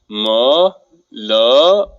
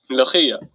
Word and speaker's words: Mulukhiya: Would you believe me if I said it'll actually taste better if you pronounced it right? Let's try it. Mulukhiya. Mulukhiya. That was great. Mulukhiya.